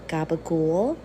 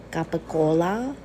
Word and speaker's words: capicola: wrong about capicola and gabagool um authentic Italians say capacola uh the Seas sound more like G's but they're not really